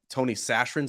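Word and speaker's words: Tony Chachere: I'm going with like Tony sashin that is how you pronounce it the cre butter uh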